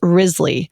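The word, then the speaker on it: Wriothesley: and Lord Chancellor Thomas rizzly which is spelled w r IO t h e s s l e y these names are hoot Grizzly so even though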